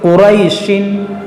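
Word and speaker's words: قريش: اگر ہم یہاں وقف کریں گے تو یہاں پر کھینچیں گے قریش، اور ملا کر پڑھیں گے تو قریشن، تو پھر نہیں کھینچیں گے.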